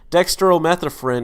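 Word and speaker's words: dextromethorphan: DXM is the drug in like robitussin it's Dexter Oh meth a friend is how I pronounce it it makes you trip the kids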